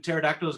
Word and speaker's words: pterodactyls: Do you know why when pterodactyls go to the bathroom, you can't uh you can't hear them? Because they're extinct. Because the P is silent.